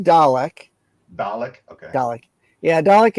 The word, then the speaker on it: Dalek: It's pronounced Dalek.